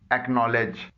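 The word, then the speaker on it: acknowledge: एक्नॉलेज, इसमें सी silent है, काफ की जो आवाज निकल रही है वो के से निकल रही है।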